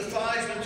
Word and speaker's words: Theismann: But we think by just simply changing the pronunciation of your last name from Theismann to Theismann to Ryan with Heisman, we get you that trophy.